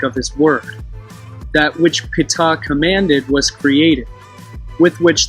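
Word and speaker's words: Ptah: ancient hieroglyphic depictions of the deity called pita or top if you use the silent p pitta which was phonetically pronounced and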